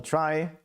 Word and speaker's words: trie: It's called a try. Uh pronounced is written as in retrieval but pronounced like in try.